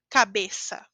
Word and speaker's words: cabeça: E a pronúncia é como S, normal, mas não S do português, certo? De entre vogais, como S do espanhol, ou a seta do espanhol. Cabeça, normal.